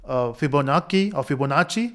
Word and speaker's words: Fibonacci: help of factorial, and then we'll move towards Fibonacci, that's how you pronounce, and then we'll focus on memoization.